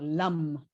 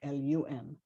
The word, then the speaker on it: Lam: But it's the A always represents a sound so Lam, so kind of like LUM.